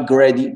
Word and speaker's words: greedy: Et greedy, Farida, tu as dit greedy. Non, greedy. Farida, faut bien allonger le i. Pas greedy, greedy.